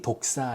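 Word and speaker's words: δόξα: 영화 영광 이라는 헬라어 단어가 독사 입니다 독사 뱀 을 얘기하는 것이 아니라 발음이 독사 입니다 그리고 영화 롭게 하다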